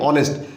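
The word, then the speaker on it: honest: হাও আর বলি না এটাকেও আমরা হনেস্ট বলি না আমরা কি বলি অনেস্ট তাহলে উচ্চারণের ভিত্তিতে আমরা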